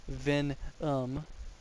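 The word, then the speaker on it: Venam: Contrary to what my mother called me, I prefer to be called Venom. It's pronounced Ven-um, by the way.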